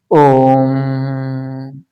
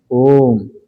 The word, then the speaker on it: ओम: ओम ज्यादा लोग बोलते हैं क्या? ओम को ओम ओम ओम नहीं। ओम को जब उच्चारण किया जाता है तो उसमें लंबा दी समय लगता है।